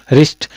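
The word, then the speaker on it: wrist: वच है क्या है रि डब्लू आता है साइलेंट रहता है वरिष्ठ नहीं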